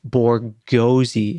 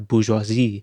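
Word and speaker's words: busy: of English orthography like reading this word as boroi instead of bisi can usually still be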